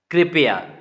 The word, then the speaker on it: कृपया: क्यों कृपया बोलना है, क्योंकि जो जो नीचे सी लगा हुआ है छोटा सा, ये री की मात्रा होती है, तो इसीलिए हमें री का उच्चारण करना है। कृपया, कृपया नहीं पढ़ना है, कृपया।